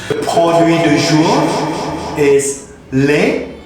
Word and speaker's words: lait: The produit du jour is lait pour le corps. Lait, that's mean milk. The T on the end doesn't pronounce in French.